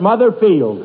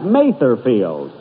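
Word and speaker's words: Mather Field: day and we're at mother field that's uh that's matherfield and although i pronounced it wrong last week um and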